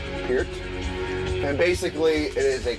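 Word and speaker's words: Peart: And this CD was produced by Neil Per or Pier, I should say, how you actually say his name. There you go. produced by Neil Pier.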